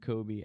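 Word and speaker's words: Coby: actually named Kobe after that Kobe Bryant, but his name Oh, is God, spelled... I feel like 1 billion years old now. His name is spelled a little differently.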